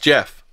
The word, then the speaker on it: Gef: not English yeah but it's actually pronounced Jeff The Voice it not